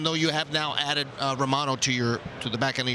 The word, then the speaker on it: Romano: And it's Romano, by the way. That's how we pronounce it in Canada.